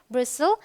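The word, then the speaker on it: bristle: Rule number 2 कहता है अगर टी के बाद एल आए तो टी साइलेंट होता है। तो देखिए टी के बाद एल, सो टी एल ई जब होगा तो टी साइलेंट होगा। ये है अपोसल, एपोसल रादर, ये है ब्रिसल, ये है बसल, देखिए STLE, ये है कासल।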